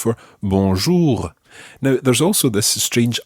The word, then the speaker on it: bonjour: means good and the part means day so bonjour literally means good day not to what we